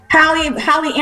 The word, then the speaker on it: Halle: Halle, like bootleg Halle Berry.